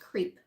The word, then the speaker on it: CREEP: Now this team is an abbreviation for something, but basically it's pronounced creep.